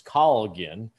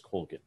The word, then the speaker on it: Colgin: Now, the Irish pronunciation is Colgin, but we've always pronounced it as Colgin.